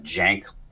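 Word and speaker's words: Cenk: name is pronounced uh Jank almost like it has a j even though it's Cen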